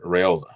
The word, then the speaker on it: Raiola: Also, you've got the specter of Dylan Raiola. Right. Am I pronouncing his last name right?